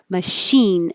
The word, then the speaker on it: machine: handy that expression machine looks like a ch i didn't make that bold i think somebody else might have had a question about it it looks like ch but it sounds like sh because it's from french so so machine machine